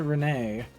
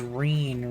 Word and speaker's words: Reen: My name's Reen. Rhymes with clean.